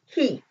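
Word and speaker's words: היא: And this word is pronounced he.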